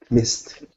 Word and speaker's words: missed: both are correct okay but we pronounce missed like this Miss missed can you also repeat